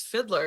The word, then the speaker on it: Fideler: me it's all good it's it's Fiddler it's not it's not as hard as you think it might